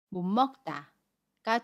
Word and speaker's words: 못 먹다: 침술이 니은 으로 발음하고 요 억에 미움은 그대로 발음합니다 그래서 못 먹다 못 먹다가 돼요 다른 예문 하나 더 볼게요 에어 온